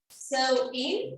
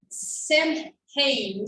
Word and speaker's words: Samhain: Yeah, because even though it's pronounced sew-in, it's written in an absolutely different way. Is it right here? Yeah. So originally it would be read as Samhain, something like this, but it's written, it's read like sew-in.